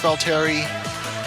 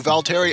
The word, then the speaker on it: Valtteri: pretty sure it's pronounced valter please someone correct me if I'm wrong though I'm pretty sure I've got it so once again Luigi